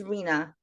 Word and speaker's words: Rena: meaningful meaning when I say my name is Rina that doesn't mean anything to you you might